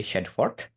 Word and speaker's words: Shadforth: SHADFORTH. Di sini kan tadi dia bilang SHAAD. Nah, si A-nya itu dia bilang ya.